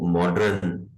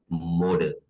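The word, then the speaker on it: modern: ये लफ्ज भी वो उर्दू में लिखने की वजह से बहुत खराब हो गया है, सब इसको मॉडर्न पढ़ते हैं। ये लफ्ज मॉडर्न नहीं है, मॉडर्न।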